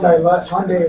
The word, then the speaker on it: Hyundai: Talking a couple of Hyundai lovers, rhymes with Sunday.